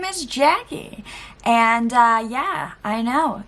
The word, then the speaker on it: Jacqie: If you're new here, my name is Jacqie, and yeah, I know it's spelled weird with a Q, pronounced with a K, but it is what it is.